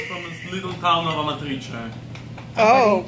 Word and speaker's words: Amatrice: And it comes from this little town of Amatrice. Oh. Amatrice. Amatrice.